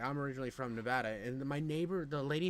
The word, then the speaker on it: Nevada: you mean n and she like corrects me Nevada I'm like no no no I'm from there it's Nevada she like no you're wrong and I'm like what